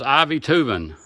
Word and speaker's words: Aivituvin: i believe it's pronounced ivy tubin i believe the a is silent but right there it